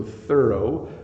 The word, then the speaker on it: thorough: we're done so thorough so thorough so we have an O sound at the end here thorough is to make sure